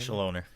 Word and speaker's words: Chaloner: Chaloner. Thank you. It's one of those last names that you can pronounce as French, but I don't think he is actually French.